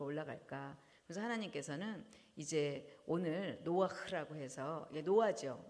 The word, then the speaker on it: 노아흐: 그래서 하나님께서는 이제 오늘 노아흐라고 해서 이게 노아죠. 노아에다가 이제 헤이라는 단어를 붙여서 읽 읽을 때 노아 흐라고 읽죠.